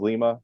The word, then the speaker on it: Lima: this on Twitter but that's honey Falls Lima that's how I've always said it Lima okay well Ben rothberg's hometown of Lima Ohio gets mispronounced a lot